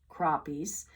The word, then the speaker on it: crappie: Crappie, pronounced crappies, also dine on minnows.